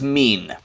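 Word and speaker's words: מִן: it looks like water it is a mem uh the e sound at the bottom this is an e sound a Herrick um and then this this last one is a final noon mean this word is mean and mean means from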